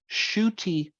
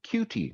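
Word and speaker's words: Ncuti: pronouncing this right because i've never actually heard his name shooty okay now in looking at the way his name is spelled i keep wanting to call him cutie gatwa okay but i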